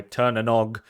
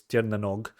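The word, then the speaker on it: Tír na nÓg: On top of the fact that it's very Celtic inspired by Turnanog, and I've definitely butchered the pronunciation of that. Actually, I'm pretty sure it's Tirnanog, but whatever.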